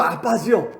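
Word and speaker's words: אבא: 우리말로 아빠지요. 아빠. 발음을 좀 세게 하면 아빠고 좀 약하게 하면 아바인데, 어린아이가 처음 배우고 가정에서 친숙하게 부르는 바로 그 단어를 예수님이 사용하셨다고 하는 것입니다.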